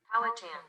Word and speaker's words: Powhatan: So let's look up how to pronounce that. Powhatan.